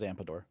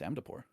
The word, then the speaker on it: Amdapor: Everyone says Ampador. I Ampador, also say yeah. Ampador. Everyone says Ampador, but it's not. It's Amdapor.